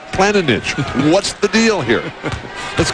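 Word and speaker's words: Planinić: to say his name every time i ask him he tells me it's zoran planning and now you're saying it's planet niche what's the deal here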